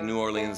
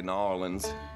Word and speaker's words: New Orleans: Some people say New Orleans, some people say New Orleans.